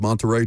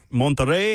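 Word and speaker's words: Monterrey: Got to roll your Rs with Mterrey, too. Montter. You can't just say Mterrey.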